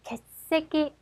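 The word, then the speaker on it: 欠席: 자, 개새끼, 개새끼 네 박자요. 주의하실 점은 어디에도 탱탱 발음은 없어야 합니다. 잘못하면 욕으로 들을 수도 있어요.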